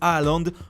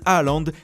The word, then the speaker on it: Haaland: Quoi qu'il en soit, Erling Braut Haaland, prononcé Hollande en norvégien, ne laisse personne indifférent.